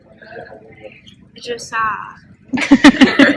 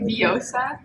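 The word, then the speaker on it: Vjosa: Vajosa. Okay, so it's actually Viosa. You don't pronounce it with the J 3 times.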